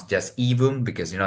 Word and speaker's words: Aevum: came from Latin and in Latin A and E together is pronounced e so the the pronunciation